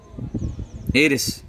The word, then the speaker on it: heiress: Heiress. Again H is silent.